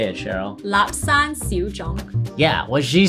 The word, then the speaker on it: Lapsang Souchong: Lapsang Souchong.